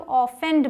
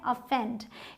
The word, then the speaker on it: offend: इसे बहुत सारे लोग ऑफेंड बोल देते हैं, लेकिन ये क्या है? अफेंड। यहाँ इसका साउंड अ है, जैसे अदर में होता है।